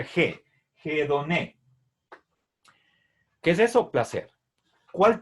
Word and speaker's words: hedoné: headon es placer y recuerden este signo es el espíritu áspero y al pasar al latín se transcribe por la h esto se lee que se pronuncia je je don qué es eso placer